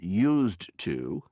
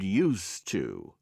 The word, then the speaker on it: used to: A listen and practice notice how used to and used to are pronounced the same one I used to